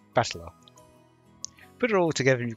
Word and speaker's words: Battler: a characters for fight and person and it's pronounced battler put it all together you've got russian mia